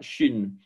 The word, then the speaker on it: shin: Un point à droite et l'on prononcera shin.